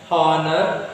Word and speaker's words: honor: We won't pronounce h. So h is silent. You won't say h honest, wrong. H honor, wrong. H hover, wrong.